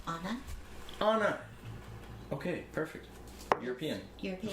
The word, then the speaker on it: Anna: stout oh nice and by the way it's pronounced anna anna okay perfect european european of course yep